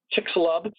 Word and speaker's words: Chicxulub: That crater is known, I think the pronunciation is Chicxulub event, was discovered by geologists a few years back.